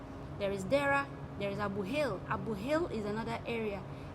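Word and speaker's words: Abu Hail: There is Dera, there is Abu Hil. Abu Hil is another area. Abu Hil is spelled this way: A-B-U space H-A-I-L. Abu Hil.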